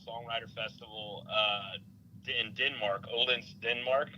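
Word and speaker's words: Odense: Festival uh in Denmark olens Denmark we say we we would say o but it's oldin you got learn how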